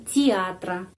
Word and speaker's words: театра: Dan teatra, ya teatra. Kita mengucapkan bukan teatra, I. Kenapa? Karena penekanannya pada huruf A. Penekanannya pada huruf A di sini, jadi huruf Y pengucapannya I. Ya, kalau huruf Y tidak mendapat penekanan, huruf Е pengucapannya I, театра.